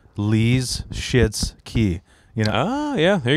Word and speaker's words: Michalski: When I had to explain to people how to pronounce it, I go. So imagine Bruce Lee is locked out of the bathroom and he's got diarrhea. Lee's shits key.